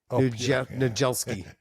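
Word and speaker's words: Niedzielski: It's Pyotr Nijelski. Remember his name? Nijelski. Nijelski.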